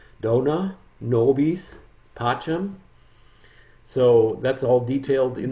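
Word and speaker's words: Dona nobis pacem: different version there is a pronunciation guide dona nobis pacham so that's all detailed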